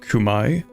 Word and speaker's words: Khmer: And remember, Khmer is pronounced Kumai.